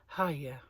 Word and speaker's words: Fage: There's this stupid advert on the TV that's like, hi, yeah, and they're saying that Fage is pronounced hiya. Phage, it says.